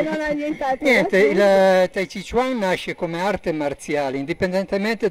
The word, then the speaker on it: Tai Chi Chuan: Chiedo scusa in anticipo per la pronuncia. Sì, perché tu hai riso prima, io adesso. Adesso ride Monica. Taiji Quan. Sì, va bene. Come si dice? Taiji? Tai Chi Chuan.